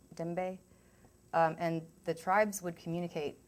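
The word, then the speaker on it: djembe: is a miniature african it's spelled d-j-e-m-b-e but it's pronounced dembe dembe and the tribes would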